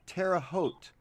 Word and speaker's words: Terre Haute: oh nancy thank you pronounced terre haute long o silent e thank you for that all these years terre haute thank you for that